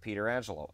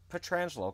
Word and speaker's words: Pietrangelo: And I think of Frank Pietrangelo, and I could say Pietrangelo, not Petrangelo, because that's how he pronounced it.